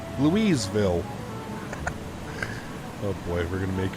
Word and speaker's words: Louisville: clicks uh blurted out uh lewisville uh that's not how you say it uh oh louisville louiseville oh boy we're gonna